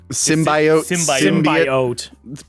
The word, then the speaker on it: symbiote: The symbiote. Symbiote. There's different ways to pronounce it. They're all correct.